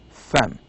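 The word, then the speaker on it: فم: It says no, it's not eyebrow, it is mouth, and the pronunciation is fem.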